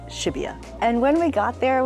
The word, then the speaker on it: Shibuya: train to go to what I used to pronounce as Shibuya, but is Shibuya.